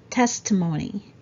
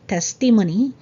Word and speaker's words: testimony: we should say testimony testimony so there's a stress on the first syllable remember it's not testimony it's testimony 21 it's